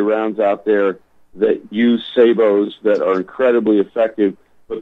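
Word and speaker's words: sabot: it's say it's pronounced say Bo hey Bo some people Americans a lot of them call it a Sode of ground but it's actually it's actually a saber round it's a French word and there they produce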